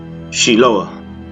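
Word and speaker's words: Shiloach: can see you again siloam pronounced in Hebrew is she lower and for that reason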